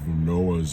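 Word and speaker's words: Noach: read the story of Noah's Ark uh in Hebrew Noah's Noah it's got that sound at the end uh and we read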